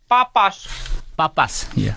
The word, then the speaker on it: Papas: Papas. Papas. Okay, it sounds like a French pronunciation.